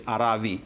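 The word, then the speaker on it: ערבי: The answer lies in the Hebrew language itself, where it is Aravi. The consonant is V, not B.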